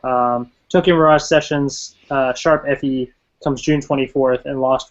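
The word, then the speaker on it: ♯FE: mirage sessions slash fe is that is that how they were pronouncing it i can't even remember the hashtag sharp yeah sharp okay yeah there we go i knew it was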